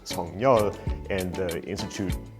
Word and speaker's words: Suk-yeol: it would be pronounced Seo-kyol. But the president himself said that he prefers to pronounce it Sung-nyeol, and the institute said